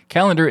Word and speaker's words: Kalendar: For those who are not familiar with it, Kalendar is a new calendar app, but it's spelled with a K.